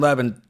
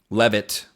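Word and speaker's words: Levitt: Cuz you know, Joseph Gordon Levan taught us in Levit Levit, I can pronounce things.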